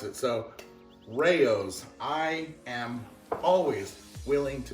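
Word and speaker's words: Rao's: i pronounce this route according to him it's actually rayo's now the internet can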